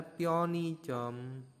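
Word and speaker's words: 편의점: dibacanya huruf i nah Contohnya apa ada pioniom pioniom pioni ya dibacanya pioni pioni Jom pioniom ya pioniom ini supermarket Nah di sini ada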